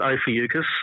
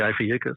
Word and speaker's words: Ophiuchus: Someone just announced that it was there, which I've always pronounced it Ophiuchus. Others are saying Ophiuchus, but yeah, Ophiuchus, which is... Yeah, Ophiuchus is how I've always pronounced it. Yeah, I've been a hard C.